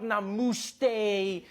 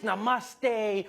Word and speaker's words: namaste: People were coming on like, dude, it's not namuste, it's namaste.